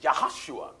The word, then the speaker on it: Joshua: was moses minister right there are no jays in the hebrew language so the proper pronunciation of joshua is yahushua that's right and yahushua